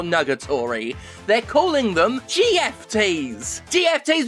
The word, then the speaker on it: GFT: GFTs because it sounds a bit like gift if you say it out loud phonetically, and you give them